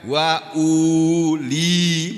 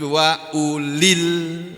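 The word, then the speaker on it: وأولي: Bacanya bukan wa uli, bukan begitu. Tapi wa ulil.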